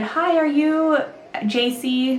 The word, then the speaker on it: Jacee: said hi are you ji they all pronounced my name Hy cuz Jay's in Spanish or H and he introduced himself